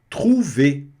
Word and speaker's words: trouver: Trouver. E esse tru não pode ser tru, é tru. Garganta, trouver. Tá certo? Sem pronunciar o R.